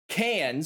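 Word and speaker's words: Cairns: how it's pronounced uh the cranes ones the c-a-i-r-n-s is cans but yes it is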